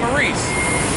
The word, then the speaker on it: Maurice: But he was a famous, Saint Maurice.